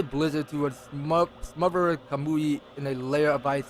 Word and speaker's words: Kamui: i miss pronouncing wrong is that kamui or kamu i'm pretty sure that's kamui so um camus set